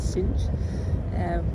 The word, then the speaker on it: Sines: I learned that you pronounce it as Sines.